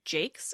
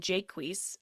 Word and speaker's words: Jaques: David Crystal writes that the name has two different pronunciations in the play based on the scansion. In the blank verse, it requires it to be Jakes at one point and Jaques at others.